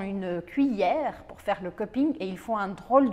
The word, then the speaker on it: cupping: Ce mot vient de l'anglais et on doit prononcer subtilement le G à la fin. Le cupping est une méthode de dégustation standardisée, destinée à évaluer la qualité du café.